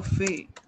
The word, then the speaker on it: fait: fait, il, elle fait, ना फेट नहीं है बच्चे, फे, क्योंकि T would be silent, elle right?